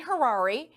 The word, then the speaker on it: Harary: from beverly hills dan hirari his name sounds like rhymes with ferrari hi dan that's how